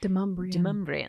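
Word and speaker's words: Demonbreun: Like, we have a street in Nashville that's spelled Demon Bruin, and is not in the slightest pronounced that way. It's Demumbrian.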